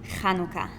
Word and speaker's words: Hanukkah: How did they pronounce it? Hanukkah.